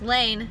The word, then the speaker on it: Lane: It's Lane, not Lainey.